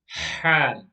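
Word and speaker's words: ح: 6 is the letter Ha. Ha. Ha is like the letter H, but a bit more heavy, a bit more stronger. And the letter Ha is pronounced from the middle part of the throat.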